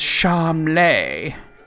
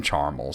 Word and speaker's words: Charmles: And then when you meet him, he's like, it's pronounced Charmley. But his father calls him Charmel, so it's yeah, that's definitely the joke.